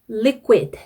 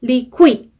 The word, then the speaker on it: liquid: Q가 중간에 들어간 단어를 발음을 할 때에는 입을 너무 빨리 벌리시면 안 돼요. 그러니까 liquid 이런 식으로 liquid, quick 이렇게 입을 금방 벌리면 안 되고 요렇게 쿠 하고 입 모양이 우 상태에서 조금 더 우리가 생각하는 것보다 조금 더 길게 머뭅니다.